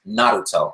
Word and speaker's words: Naruto: only been in the US but yeah it's pronounced Naruto anyway but will forgive her she's a newbie